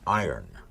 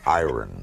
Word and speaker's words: iron: You don't pronounce it iron. That's what everybody tells me. It's the iron horse, like Lou Gehrig was the iron horse of baseball. Yes. The word I-R-O-N is iron. No, iron.